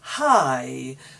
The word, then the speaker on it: high: Another GH which is not pronounced is high. So we walked up a very high mountain. Our skyscraper is very high. High is GH, but it's not pronounced.